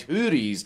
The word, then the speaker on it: houris: He is married to 72 wives from among the wide-eyed houris of paradise. I'm not calling them whores, that's just how it's pronounced.